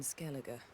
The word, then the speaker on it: Skellige: I corrected myself and said, oh, it's probably pronounced Skellige.